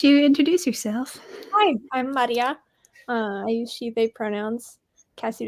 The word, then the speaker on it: Maria: introduce yourself hi I'm Maria I use sh pronouns Cassie didn't want to say my name I still I still pronounce the r like a French R and it's not a French R and I keep failing